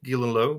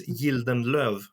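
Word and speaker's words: Gildenlöw: Yeah, Gildenlow, but in Swedish, it's Gildenlöv.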